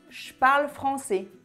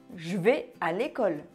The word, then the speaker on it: je: j'écoute la radio quand on parle on ne prononce pas le e de jeu on lit le gie homos qui suit par exemple je parle français je parle français je vais à l'école je vais à l'école je suis en vacances